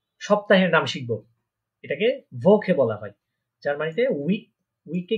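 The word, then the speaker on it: Woche: আবার ওকে বলবেন না, কারণ এটা আমরা দেখেছিলাম এটা ভে, ডাব্লিউটা কি উচ্চারণ করার পারে ভে, তাহলে হবে কি ভোকে।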